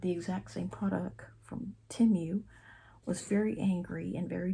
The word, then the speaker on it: Temu: It's Temu, t e m u, like Tim University. t e m u and not Temu.